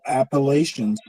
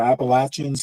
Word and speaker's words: Appalachian: communi up you know the appalation or Appalachians how you know you can pronounce it either way um there are a